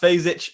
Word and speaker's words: Fejzic: It's a weird surname, I know, but it's pronounced Fejzic. It's spelled Fejzic.